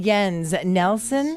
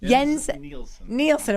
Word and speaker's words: Jens Nielsen: Yen, or is it Jens Nelson? Jens Nielsen, of course.